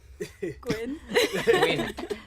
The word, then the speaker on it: Gwyn: Not Gwen. Gwyn.